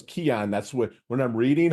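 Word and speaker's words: Cian: have to ask you is it Canan or is it pronounced Chan or like how's it pronounced yeah it's a good question it's a Keon Keon okay because Squad it's spelled the one of the main characters his name is is spelled c i an and I now that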